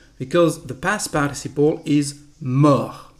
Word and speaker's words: mort: Mourir is irregular because the past participle is mort. Mort with a T, we don't pronounce it, it is the masculine form. The feminine form, we add an E and the pronunciation is morte. Mort, morte.